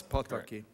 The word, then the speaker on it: Pataki: I'm particularly delighted to welcome my good friend, Governor Pataki, which is the proper pronunciation of his name. For all of my colleagues, every single Hungarian word is accented on the first syllable, and it's Pataki.